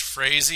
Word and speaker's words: Frazee: actually it's actually pronounced Frazee it's the north German it rhymes with crazy or lazy or Daisy take your pick okay all right I